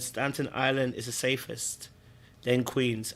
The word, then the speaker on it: Staten Island: I thought it was Stanton Island. It's not Stanton Island. It's Staten Island.